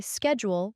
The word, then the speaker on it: schedule: the accent for example Americans say schedule with a SK sound while British people say it with a sh sound wow it's like learning